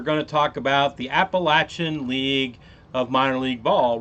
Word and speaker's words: Appalachian: I don't know where everybody else in the world gets Appalachian at, but it's Appalachian. That's the way it's pronounced.